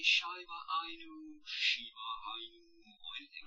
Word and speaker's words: Shiba Inu: Shiba Inu? How do you even pronounce it?